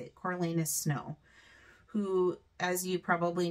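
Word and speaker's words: Coriolanus: and we have um I always want to call him Cornelius but that's not his name it's coralus I think is how you say it coralus snow who as you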